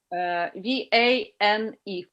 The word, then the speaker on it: vane: Vein, like a vein in my arm. V-A-N-E. Okay, like a weather vane. It's the same pronunciation.